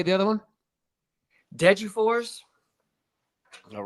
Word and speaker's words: Degerfors: Degerfors.